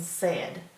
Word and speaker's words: said: e a i and said Ed said the rest of it follows the normal rules I said we have to remember that a i is making that e sound in said our next sight word